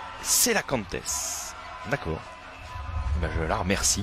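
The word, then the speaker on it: cœlacanthes: On profite de ce petit arrêt de jeu pour saluer Mayou 976 sur Twitter, qui nous dit Koela Cantes, comme j'ai pu le prononcer, donc le nom, surnom des Comores.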